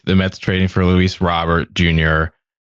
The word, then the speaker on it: Luis Robert: Okay, it's Luis Robert. You guys can say Roar and put a put a tilda where there isn't. But I will I will acknowledge that our official pronunciation is Robert.